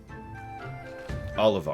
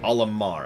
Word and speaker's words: Olimar: and i think oliver or how he pronounced a stupid name olimar it's an m olimar there you go that's